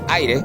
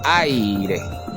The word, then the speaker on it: aire: Yo no digo a ir, digo aire.